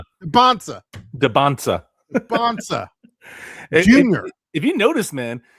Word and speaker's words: Dybantsa: Well, how do you pronounce his name? Dybantsa.